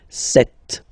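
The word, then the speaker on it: sept: Then here, remember, P is not pronounced, okay? It doesn't exist, so you get this set sound.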